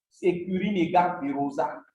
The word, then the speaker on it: Securinega virosa: Alors, la plante qui suit ici s'appelle Securinega virosa bavia. Securinega virosa. C'est comme vous l'entendez, hein, le Securinega virosa s'écrit S-E-C-U-R-I-N-E-G-A. Virosa. V-I-R-O-Z-A.